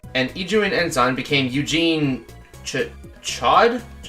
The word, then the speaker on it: Chaud: But how's it pronounced? Chaud.